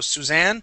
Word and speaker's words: Suzanne: But when you have the ending with Anne, okay, we put the emphasis on Anne. So Suzanne.